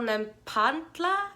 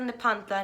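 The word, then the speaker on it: Nepantla: was born um in san miguel nem pontla i think is how you say it san miguel nepanta new spain juana ramirez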